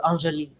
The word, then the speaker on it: Anjali: i love that you say my name the french way too angeli you know it sounds like jolie and julie means pretty